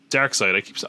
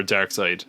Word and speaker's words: Darkseid: Which we should say that this is our first look at Darkseid. I always say Darkseid because of the way it's spelled, but it's Darkseid.